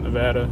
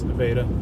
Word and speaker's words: Nevada: are just outside of Nevada how it's pronounced here not Nevada it's Nevada thought he was going